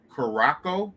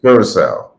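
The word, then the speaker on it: Curaçao: the same level of, I never can say it right, Caraco, the island of Caraco. I don't know if I'm saying it right. Curacao. Damn, I got it all the way wrong.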